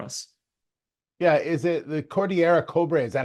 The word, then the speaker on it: Cordillera Cobre: Yeah, is it the Cordillera Cobre?